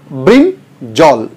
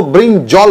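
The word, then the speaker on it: brinjal: Second word है हमारा ब्रिंजॉल। अक्सर उसको ब्रिंजॉल बोलते हैं, ब्रिंजॉल नहीं, ब्रिंजल, ब्रिंजल। इसको हम लोग अक्सर, मैं भी सुना हूं, कुकुम्बर कहते हैं।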